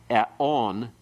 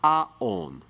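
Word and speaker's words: עֲוֹנִי: We have eon, not aon. The reason for that is that this word normally is aon. The actual form you'll learn for vocabulary is aon, iniquity, guilt.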